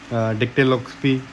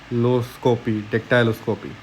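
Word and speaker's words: dactyloscopy: ठीक है, उसके बाद डेक्टिलोस्कोपी, सॉरी इसका प्रोनाउंसिएशन मुझे थोड़ा, डेक्टाइलोस्कोपी।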